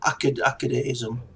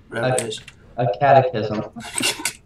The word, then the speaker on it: Acadechism: Acadechism. Acadechism. Like academy.